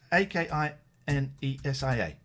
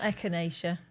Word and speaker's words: akinesia: it's i think it's a-k-i-n-e-s-i-a akinesia i think is how you spell it not echinacea not echinacea you absolute melts uh